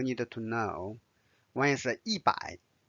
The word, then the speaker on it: 百: One is 100. Notice the fourth tone.